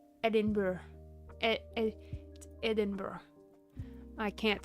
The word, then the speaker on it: Edinburgh: Uh and then I want to say Edinburg cuz I'm American and there's a G in it. However, that's not how it's said. And you have to like Edinburgh.